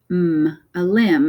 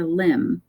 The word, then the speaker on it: limb: But in this one, the MB comes at the end of words. So the B is silent. So we've got a limb, and that's what we would call like your arm or your leg, a limb.